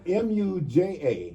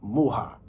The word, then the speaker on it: Muja: So now it's spelled M U J A. Yes, sir. But now the correct pronunciation is muja. And and and uh for my Latin brothers, they call me mua.